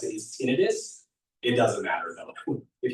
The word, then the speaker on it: tinnitus: Um, technically the correct way to pronounce it is tinidis. It doesn't matter though. If you want to say titis, that is fine.